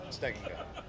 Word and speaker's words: Stegenga: Stegenga. Stegen? Yeah. Just everybody butchers it. Don't feel bad. How do you spell it?